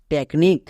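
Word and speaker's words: technique: সি এইচ tac plus N আই সি নিক টেকনিক next টি ই সি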